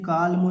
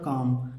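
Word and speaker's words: calm: आ जाए तो हमें बिल्कुल भी एल को नहीं पढ़ना है इसे कालम नहीं पढ़ेंगे इसे बालम नहीं पढ़ेंगे इसे पालम नहीं पढ़ेंगे ना तो इसे अलमंडा देना है केवल सी ए एम का उच्चारण निकालना है तो यहां क्या हो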